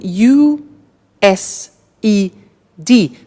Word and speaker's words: used: now this verb used to well it's written u s e d but the pronunciation is used and we'll see that on